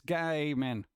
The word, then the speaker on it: Gaiman: There happens to be a Humble Bundle for Neil Gaiman Dark Horse graphic novel collection. Hey, Humble Bundle. Neil Gaiman. Gaiman it up. This guy, man.